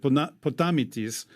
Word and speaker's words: Potamitis: an Orthodox publisher called, in Greek, I would pronounce it Potamitis, but you might see it as Potamitis Publishing. The author is Dionysios Potamitis, who's obviously Greek.